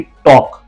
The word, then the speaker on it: talk: और कहीं कहीं पर वर्ड बिल्कुल साइलेंट होते हैं, जैसे कि टॉक, TALK, टॉक। इसमें L दिया गया है, लेकिन हम L को पढ़ते नहीं है, डायरेक्ट टॉक बोलते हैं।